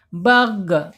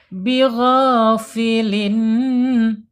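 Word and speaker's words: بغافل: Awas hati-hati di huruf ghain ya. Ini sering banyak kesalahan di huruf gain. Kenapa? Karena gain dibacanya kasar. Bigo kenapa? Benar. Enggak boleh. Ya boleh. Tapi ketika ya ketika dia sukun gain ini enggak boleh mantul ya. Bag bag enggak boleh bag. Bag atau bigh gitu ya. Big dikit lagi bigh mad thobi'i panjangnya dua harakat.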